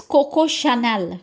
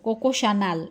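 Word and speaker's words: Coco Chanel: लेट me tell you कि French में सी एच is never च। इट्स ऑलवेज श and this is कोकोशनानेल। कोकोशनाल। इट्स नॉट च।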